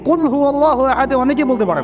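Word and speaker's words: قُلْ هُوَ اللَّهُ أَحَدٌ: একটা সুরা পড়ে গেলাম কুল আল্লাহু আহাদ, কি কুল আল্লাহু আহাদ মানে কি, এটা উচ্চারণই বা কেমন করে করতে হয়? কুল বলুন, হু আল্লাহু আহাদ, তিনি আল্লাহ এক। এই যে কুল হু আল্লাহু আহাদ অনেকেই বলতে পারে না,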